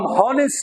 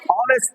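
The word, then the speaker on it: honest: ये साइलेंट है, ये एच साइलेंट है। हम हॉनेस्ट नहीं पढ़ेंगे, हम क्या पढ़ेंगे? ऑनेस्ट पढ़ेंगे। इसलिए हमने इस नाउन से पहले, ऑनेस्ट से पहले एन लगाया।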